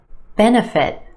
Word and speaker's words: benefit: C-C ech echconomic benefit. Benefit. Three syllables here. Our emphasis on the first syllable, the e sound. benefit. benefit. That second syllable. That's where you'll find your schwah.